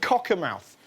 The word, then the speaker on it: Cockermouth: places was the northern town of cocker mouth that's that's how you pronounce it Cocker mouth this isn't